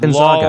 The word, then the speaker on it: Gonzaga: It's pronounced Gonzaga.